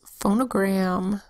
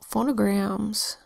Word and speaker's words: phonogram: First syllable, pho. It's an open syllable, so the O makes a long O sound, O. O. Second syllable, no. Another open syllable, so the O makes a long O sound, O. O. And then gram, G-R-A-M, is a closed syllable, so the A makes a short sound, ah. O, O, G, R, A, M. Say it together fast.